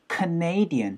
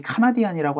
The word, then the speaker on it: Canadian: 바로 캐나디안이 아니고 Canadian 해서 NA에다 강세 찍어서 Canadian 사운드로 Canadian이라고 하지 카나디안이라고 하지 않아요.